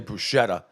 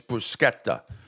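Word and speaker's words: bruschetta: see I get offended when people say Bretta which is absolutely goes through me like nails on a chalkboard it's brusketta you never ever pronounce the sh like that ever that's Bretta and a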